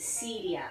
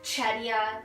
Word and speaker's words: Cedia: name is campos and my last name is cedia no one really knows how to pronounce it everyone always gets it wrong it's usually along the lines of cheddar kidaya or ked so um it's joanna camposidia but again just call